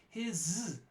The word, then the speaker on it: his: was articulating too strongly we say his son his son you notice the zoo goes away normally that is pronounced obviously his but here's his son it becomes D voiced becomes voiceless because the next word is voiceless his son but back